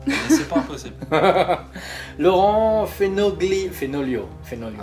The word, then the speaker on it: Fenoglio: Laurent Fenoglio. Fenoglio. Ah, c'est gentil de le prononcer correctement, ça fait plaisir. À l'italienne.